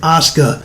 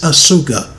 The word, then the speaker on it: Asuka: I'm sorry, people keep saying Asuka, but that's not how it's pronounced. That's not how it's spelled. It's Asuka.